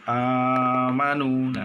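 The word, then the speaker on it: آمنوا: dua harokat tutup begitu berikutnya adalah amanullah disitu ada Hamzah bertemu dengan alif cara membacanya juga harus dibaca panjang sepanjang dua harokat Edo amanu disitu amanu bisa bertemu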